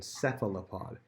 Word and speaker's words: cephalopod: That's a tricky one, cephalopod. This word can be easily broken down. First of all, it has a PH making an F sound, so it has to do with the pattern words.